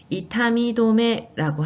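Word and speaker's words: 痛み止め: 같이 발음해보세요. 친쯔자이. 네, 친쯔자이라고도 하고 그 다음에 또 다른 표현은 이타미도메라고 합니다. 이타미는 아픔, 통증이거든요. 도메는 멈춘다는 뜻이어서 통증을 멈춘다라는 의미의 진통제가 됩니다. 자, 이타미도메 하셔도 되고요.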